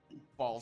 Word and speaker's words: Bhaal: Also, for everyone who wants to know what ball is spelled like this.